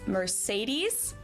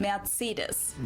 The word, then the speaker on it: Mercedes: Um, so most Americans call this Mercedes. In German, we pronounce it Mercedes.